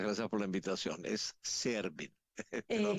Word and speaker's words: Serbin: Es Servin. Te lo pronuncio Excelente.